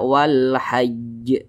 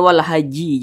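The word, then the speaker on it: والحج: nah kemudian di sini kalau kita berwakaf tepat di huruf Jim maka kita baca Wal haaj jangan Wal Haji jangan jangan Wal hajji janganah huruf jimnya ini kita sukunkan atau kita matikan Nah kenapa kita sukunkan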